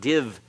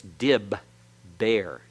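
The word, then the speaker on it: דִּבֶּר: though we're both doggishes it's not div there it's dib bear if you want to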